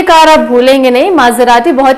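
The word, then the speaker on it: Maserati: सो ये मासेराती नहीं है, इसका प्रोनाउंसिएशन होता है माजराती। सो आप इसे थोड़ा एक साथ बोलिएगा माजराती।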